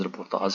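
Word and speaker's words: reportage: سے ایک رپورتاز ہے۔ یہ لفظ فرانسیسی زبان کے لفظ رپورٹیج سے لیا گیا ہے جس کا تلفظ رپورتاز ہے اور جو انگریزی لفظ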